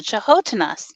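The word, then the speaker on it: canotina: they're there with the chahotenas and i said the what and he said the chihuahuas and that it's actually spelled cano tina c-a-n-o-t-i-n-a but it's pronounced chahotena and he said those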